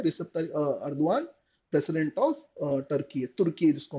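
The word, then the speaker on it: Erdoğan: अर्दवान इनका pronunciation होता है।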